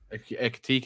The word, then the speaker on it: Ekitike: Yeah, Hugo Ekiti or Ekititi, Ekitike.